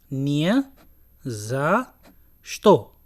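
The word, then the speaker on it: не за что: अगर आप ध्यान दें इस पे, तो हमने 3 डिफरेंट वर्ड्स को ऐड किया, निया जा श्तो, लेकिन जब हम उसको प्रोनाउंस करेंगे तो हम बोलेंगे नियाजाश्ता, नियाजाश्ता, क्योंकि इसमें रशियन ग्रामर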